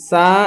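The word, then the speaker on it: ث: যেমন দেখেন এখানে সা হচ্ছে নরম আওয়াজে, সা হচ্ছে নরম আওয়াজে। সিন হচ্ছে শির শির ও পাতলা আওয়াজে, সিন হচ্ছে শির শির এবং পাতলা আওয়াজে। আর সদ হচ্ছে শির শির ও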